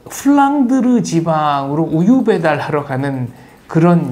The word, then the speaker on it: 플랑드르: 프란다스는 플랑드르 지방의 일본식 발음입니다.